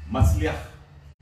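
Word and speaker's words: מצליח: É uma palavra difícil de se pronunciar. É Matzliach. Arranhar a garganta.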